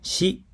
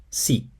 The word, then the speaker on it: し: This character is pronounced shi, not si.